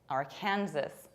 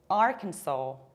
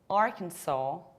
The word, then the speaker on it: Arkansas: We pronounce this state as Arkansas, Arkansas, with long A at the end, saw, or another potential pronunciation is Arkansas, Arkansas, with long A at the end. S is not pronounced at all.